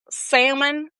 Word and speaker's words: salmon: The word Mm. salmon, so hard. Salmon. Say like my Salmon.